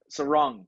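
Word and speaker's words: Serong: Yeah, including, can't pronounce his name, from Freo, the young lad, rising Caleb star. Sarong. Sarong, that's how you say it.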